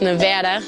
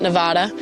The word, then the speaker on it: Nevada: We learned the correct way to say it's Nevada, not Nevada.